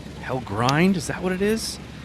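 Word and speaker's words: Hellgrind: Hell grind.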